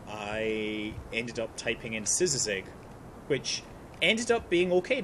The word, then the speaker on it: szyzyg: You pronounce it szyzyg. And it's not Suzy G, which I got for some reason a lot.